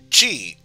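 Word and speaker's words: ち: The first exception, instead of T, is Chi, which starts with a C instead of a T and adds a soft H sound.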